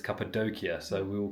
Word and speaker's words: Cappadocia: It's not Capedokia, it's Capedokia.